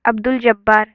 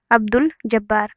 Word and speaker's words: عبدالجبار: یہاں پہ عبدالجبار، بس یہاں پہ الف اور لام کو پڑھا گیا. عبدالجبار.